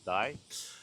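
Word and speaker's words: 大: So there's a mountain in Kyoto called Daimonji, where the actual mountain has so there's a kanji called big, which you pronounce as Dai, and the mountain goes on fire in the shape of that Dai, which is pretty cool.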